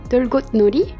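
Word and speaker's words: 들꽃놀이: un jeu de mots il se prononce delcote Nolly c'est un parallèle entre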